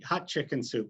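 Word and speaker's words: Hatshepsut: queen the temple queen hat shapoot or queen well my friend maggie tells me hot chicken soup that's the way you pronounce it and uh uh queen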